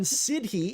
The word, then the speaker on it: siddhi: I pronounce it siddhi. It sounds like the city, like you live in.